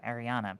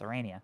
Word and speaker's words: Arania: I was always mispronouncing the name. It took me a second. I was like, "Who's in Irania?" And then I was like, "Oh, Ariana." Because that's how I pronounced it, but it's Arania now.